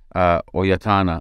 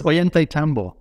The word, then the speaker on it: Ollantaytambo: Or what was life like then in Peru, in the small town Oyatana? How do you say it? Oyatana? It's Ollantaytambo.